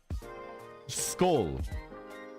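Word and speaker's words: Skål: Skull. Pronounced skull.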